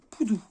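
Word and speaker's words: Pudu: le Poudou du Sud donc ça s'écrit P u d u mais ça se dit Poudou alors j'ai eu un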